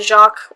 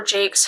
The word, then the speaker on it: Jacques: And then finally I bought The Legend of Luke by Brian Jacques, or Jakes, however you want to pronounce it.